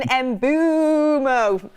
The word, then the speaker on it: Mbeumo: Brian Mbeumo. It's bad, that, isn't it? That is also the correct pronunciation, though.